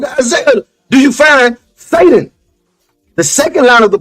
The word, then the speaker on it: Satan: It's pronounced Satan.